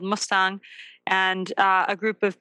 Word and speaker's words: Mustang: treat animals oh interesting did you say m Mustang or must it's it's called It's pronounced Mustang but it's spelled like the car